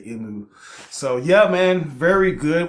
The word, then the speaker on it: Emu: It's cool how that is, you know, his name kind of sounds like the Japanese pronunciation for the letter M, you know, because they always say Emu.